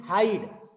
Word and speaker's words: hide: आ रहा है, तो यहाँ पे केवल आपका E एक तरीके से साइलेंट ही रहता है। साइलेंट लेटर तो नहीं बोलते, साइलेंट लेटर तो नहीं है, साइलेंट लेटर बिल्कुल भी नहीं है, लेकिन आप कह सकते हैं HID। ई, हाइड, आई और ई दोनों मिल करके आई का साउंड निकाल रहे हैं।